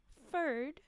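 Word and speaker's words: Ferd: I'm telling you now it's spelled f e r d fur not Fred fur and then and then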